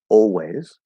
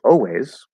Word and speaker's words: always: way to say it we can also drop the l completely say always um i always do it i always do it another very common way to say it um i always always do it if you just do ah and drop the l i guess it's okay i always i always always always but it sounds a bit better with with the l coloring so these are the